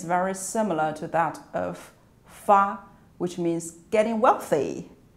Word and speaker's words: 发: The pronunciation is very similar to that of fa, which means getting wealthy, like this is fa, this is ba, this is fa.